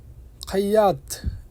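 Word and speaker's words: خياط: পার্টিকে আরবিতে বলে আজুমা খাইয়া খাইয়াদ লেখা আছে এখানে খাইয়াদ বলবেন না বলবেন খাইয়া এর অর্থ হচ্ছে দর্জি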